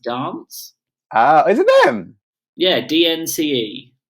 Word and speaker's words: DNCE: Oh yeah, but it's by DNCE, which I believe is pronounced dance.